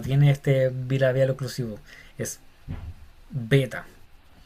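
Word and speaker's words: βῆτα: Hasta ahí vamos igual a nuestro idioma, pero esta se llama beta. Beta. Y tiene que ser pronunciada con B, así como una B fuerte como de boca, beta.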